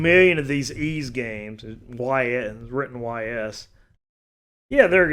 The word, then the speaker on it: Ys: YS, written YS. Yeah, there it goes. Wanderers from Ys, pronounced E-A-S-E.